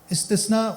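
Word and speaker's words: استصناع: ये सना से निकला है बाबे इस्तफाल इस्तना इस्तिसना अक्सर लोग इसको गलत प्रोनाउंस करते हैं। वो एक्सेप्शन वाला इस्तना समझते हैं।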